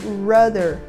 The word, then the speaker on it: rudder: avião é a palavra rudder. Rudder. Rudder se refere ao leme de direção da aeronave. E aqui a letra D ganha esse sonzinho desse R mais seco.